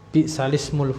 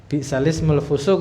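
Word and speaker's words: بئس الاسم الفسوق: Bi'salismul fusuk itu termasuk gharibul Quran kan, bacanya yang asing. Jadi bukan bi'sal ismu, tapi di nakal, dipindah harakatnya menjadi bi'salismul fusuk.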